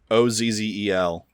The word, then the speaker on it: Ozzel: Owen Wilson killing Luke Wilson in that scene Ozil Admiral Ozil came out of light speed too close to the system yes ozzel that's it that's that's Luke Wilson okay oh